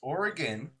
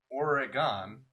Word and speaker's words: Oregon: says right here uh it's oregon not oregon or oregon where you pronounce the e or the g-o-n see see this time